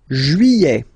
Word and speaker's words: juillet: Juillet. Okay, you get this double L here. Juillet, juillet. Don't pronounce this final T, E-T here at the end.